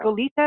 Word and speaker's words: Goleta: So we have in Goleta, and you're right, that's how we pronounce it, Goleta, which actually is an old Spanish word for ship. So it was a certain kind of ship, and so Goleta actually was named for that.